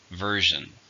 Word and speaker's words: version: is a countable noun how many syllables version do stress in the first version this is the latest